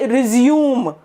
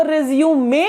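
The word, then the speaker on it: résumé: ये जो रिज्यूम है RESUME, ये क्या है? ये होता है किसी चीज को दोबारा से करना, रिज्यूम वर्क। लेकिन जब आप उस पेपर की बात कर रहे हैं जिसके ऊपर आपके बारे में विवरण दिया हुआ है, वो रिज्यूमे होता है, वो रिज्यूम नहीं होता।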